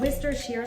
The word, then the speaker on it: Worcestershire: It's pronounced Worcestershire sauce, but it is spelled like Worcester.